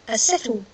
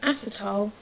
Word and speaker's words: acetyl: Um or sometimes you'll hear people call it an acetyl group. So an acetile or an acetle. Um but sometimes people will call this an acetile group depending on how they pronounce things.